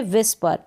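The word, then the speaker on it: whisper: मतलब है फुसफुसाना यार कानाफूसी करना इसको पढेंगे विस्पर समझ में आ गया होगा आपको फिर यह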